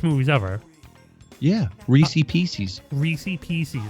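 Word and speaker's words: Reese's Pieces: Reese Pieces, man. That's how you pronounce it.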